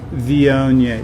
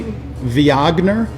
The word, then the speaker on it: Viognier: if you're bored now if you mispronounce it if you say V ogner then it sounds like you're talking about maybe a famous German composer or something like that it's which